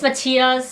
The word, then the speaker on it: Matthias: For all the Europeans out there, it's Matthias, so I kind of say it right.